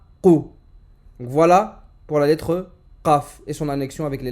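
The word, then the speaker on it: قاف: Pour prononcer correctement la lettre Qaf, la racine de la langue doit monter et toucher le fond du palais.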